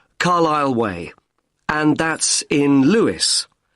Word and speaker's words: Carlisle: Sorry. It's Carlisle. You don't pronounce the S. Carlisle Way.